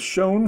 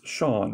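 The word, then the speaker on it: Chone: a winning materials of shone figgins no it's shawn right even though it's pronounced looks like shown but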